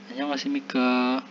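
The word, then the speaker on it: 안녕하십니까: Kalau ada tanda tanya di belakang ini, pengucapannya agak panjang ini. Annyeonghasimika, annyeonghaseyo, panjang. Itu artinya kita bertanya kepada lawan bicara kita.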